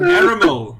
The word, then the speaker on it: Aramel: I think it's Arabelle because it rhymes with caramel. Something. Rhyme. Oh, not rhyme, but it's close. So. Aramel, yeah.